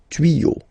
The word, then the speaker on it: tuyaux: Okay, des tuyaux. Same rule, you don't pronounce it.